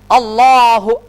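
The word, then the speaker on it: الله: যাবে উচ্চারণটা আমরা বলেছিলাম আল্লাহ শব্দের পূর্বে জবর থাকলে পেশ থাকলে মোটা হবে তাহলে উচ্চারণটা কি হবে এবার শুনুন আল্লাহ আল্লাহ মনে রাখতে হবে এই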